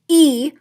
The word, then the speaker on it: y: would add those minutes by using the Y which is pronounced e and it's it means and and then whatever number